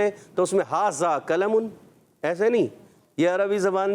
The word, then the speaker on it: قلم: جیسے قلم، ھذا قلم، تو اس کو قلم ہی قاف موٹا پڑھیں گے، یہ نہیں، یا ھذا ذال بول رہے ہیں تو اس میں ھذا قلم، ایسے نہیں، یہ عربی